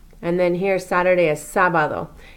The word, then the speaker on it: sábado: Notice there's an accent mark here over that first A. It's sábado. You are going to emphasize that first A where the accent mark is more so than the other ones.